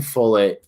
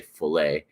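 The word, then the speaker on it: Follett: very much and Ken fullet I think that's how you say his name I want to say fle but I think it's fet uh is is certainly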